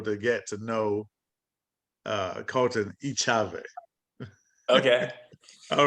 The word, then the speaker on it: Echave: Colten Echave. It's it's all good. It's hard to pronounce. It's Echave. Echave.